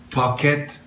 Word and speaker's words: Paquette: Paquette good French name French name not packet um I'm impressed pocket I've learned over the